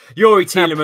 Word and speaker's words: Youri Tielemans: Youri Tielemans.